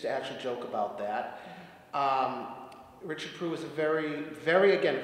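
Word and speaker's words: Richard Proulx: The piece after that is two variations on The Holly and the Ivy by Richard Prue. That's actually how you say his name. He used to actually joke about that. Richard Prue is a very, very, again, very prolific composer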